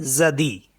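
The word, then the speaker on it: jeudi: जी अ य दे ई इसे पढ़ते हैं जदी जदी मीस होता है थर्सडे जदी कम्स फ्रॉम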